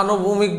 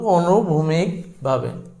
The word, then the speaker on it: অনুভূমিকভাবে: এটা হচ্ছে বেগ বৃদ্ধির ক্ষেত্রে, বেগ বৃদ্ধির ক্ষেত্রে অনুভূমিকভাবে আবার এটা আনুভূমিক বলবা না, এটা সঠিক উচ্চারণ কিন্তু অনুভূমিকভাবে।